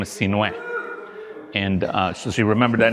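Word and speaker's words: Sinuhe: So the correct pronunciation of my first name is Sinue.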